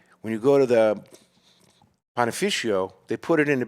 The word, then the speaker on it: panificio: No, we go to a panificio.